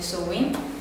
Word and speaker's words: Samhain: Sì, però c'è anche una festa del 1° novembre di Samhain, scritto Samhain, come si legge Samhain, che significa la fine dell'estate ed è considerato capodanno celtico.